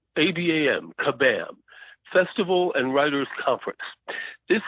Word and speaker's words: Kabam: It is called, I want to pronounce this right, Kabam. I keep wanting to say Shazam, but it's Kabam. K is in kite, A-B-A-M, Kabam.